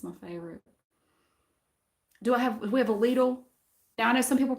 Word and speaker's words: Lidl: They're building a Lidl, and they're putting ads on the radio all the time, and they pronounce it Lidl.